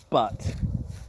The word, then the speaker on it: Butte: So it's spelled Butte. So it's a double T, so it's Butte. Now the E really should be silent. So it should just be Butte.